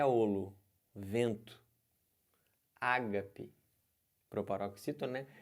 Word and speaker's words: ágape: isso é o Ari tá é ouro vento Ágape proparoxítona é altruísta né a gente conhece o